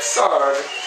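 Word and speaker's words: Sarg: about Tony sard and that sard rhymes with ar I didn't write that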